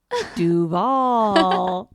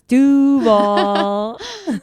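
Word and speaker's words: Duval: you asked this Kell what he said was Dov and what the right thing to say is doall got it nice job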